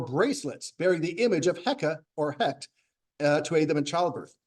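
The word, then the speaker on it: Heqet: bearing the image of heca or HEC to a them in childbirth in Egyptian the uh T at the end of a word is silent and it's often a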